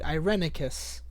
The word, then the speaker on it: Irenicus: answer long overdue I was saying it right irenicus good to know oh these are the prisoners